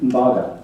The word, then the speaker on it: Mbaga: Mbaga. Is that the right pronunciation? Mbaga. Yes.